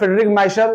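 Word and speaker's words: Miescher: इन 1869 में डीएनए को सबसे पहले आइडेंटिफाई किया था फ्रेडरिक माइखर ने। फ्रेडरिक माइशर कुछ भी पढ़िए, स्पेलिंग सही लिखिएगा।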